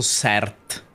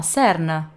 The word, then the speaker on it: CERN: L'hai pronunciato bene o hai pronunciato CERT? No, CERN.